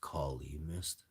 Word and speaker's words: Kali Mist: Cali Mist. He had Cali O. It's actually pronounced Kali Mist with a K, and it comes from Afghanistan in the Kali Mountains.